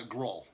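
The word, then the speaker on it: Grol: how did you pronounce the king's name uh growl it's spelled g-r-o-l for whatever it's worth okay girl i thought you said golf and i was like i know i know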